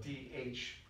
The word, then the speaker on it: Dharma: Now, in Eastern religions, there's an ultimate reality called Dharma, which is spelled D-H-A-R-M-A. So there's an H in there you wouldn't know about.